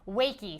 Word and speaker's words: Wakey: that's uh that's it wakey so it's wake it's the word wake but with a long e it has a line over the top yeah let us know